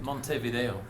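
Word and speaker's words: Montevideo: might be able to help me out the pronunciation Monte Monte Vo Monte in fact actually Monte Vo thanks um here And so the uh the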